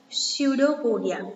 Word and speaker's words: pseudopodia: So their body is completely having uneven shape, okay, and they are having one structure named as pseudopodia. P is silent.